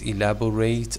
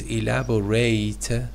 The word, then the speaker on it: elaborate: As a verb, it is elaborate on. Okay, and your ID. Okay, Yes. is that right? Also, the pronunciation changes, you know. The verb is elaborate, ate. The adjective is elaborate.